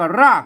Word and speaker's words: ราก: เนี่ย มัน ออก ถ้า ถ้า เป็น ไทย ภาษา ไทย เพิ่น ออก เสียง ร้อ นะ ครับ อ ถ้า เป็น เมือง เพิ่น ออก ออก เสียง ฮอ นะ ครับ ไทย ก็ ราก นะ ครับ เมือง ก็ ฮาก นะ ครับ อ่า นี้ อ่าน ว่า ฮาก นะ ครับ ฮาก เนี่ย